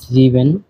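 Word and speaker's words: sieben: হয় জেক্স তো সাত কে বলা হয় জিভেন জিভেন আট কে বলা হয় আক্ট আক্ট নয়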